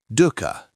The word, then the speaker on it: Dukkha: Dukkha. Suffering, stress, unsatisfactoriness.